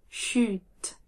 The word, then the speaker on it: chut: On prononce bien le t à la fin. Chute, chute.